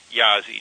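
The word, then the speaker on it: Jaszi: the direction of a law professor named Peter yazzi J a s z spelled like in Jazzy with a with an S instead of a z for the first Z Peter jazzi okay go Google Peter Yazi j a s z and authorship and read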